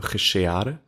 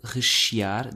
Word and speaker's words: rechear: In this verb, rechear, the second E sounds like rechear. It's not rechear. Oh, little twist there. Rechear. Rechear. Just one of those little pronunciation exceptions that come up.